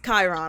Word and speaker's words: Chiron: It's Chiron. I'm like, okay. It's Chiron. It's Chiron. Right, you're Chiron, What's your right. I'll Chiron?